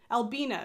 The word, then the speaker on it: Albina: she's wearing my versal sweater by Albina McLaughlin Albina is how you pronounce that by the way for all of